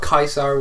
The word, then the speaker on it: Caesar: it latin all um all the c's are pronounced with hard c's so it would be with a k and not a and